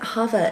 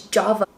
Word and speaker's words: Java: I keep calling it Java, it's Java. It's like the Hispanic in me, pronouncing the J's as H's.